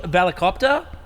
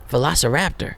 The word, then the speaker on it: velociraptor: here we got versace velarcopter velociraptor oh velociraptor i can't read anything that was that was probably the most horrible mispronunciation of a dinosaur ever a velicopter sound